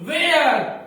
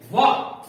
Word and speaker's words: was: Many people pronounce it where.